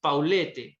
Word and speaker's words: Paulette: que el caso paulette paulet se escribe con un doblete y al final paulete debería pronunciarse es un caso ocurrido